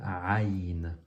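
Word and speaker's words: عين: On a maintenant une lettre que certaines personnes ont parfois de la misère à prononcer. C'est la lettre Aïn. Aïn. Aïn.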